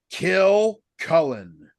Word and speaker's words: Kilcullen: Just so I pronounce that correctly. Kill Cullen.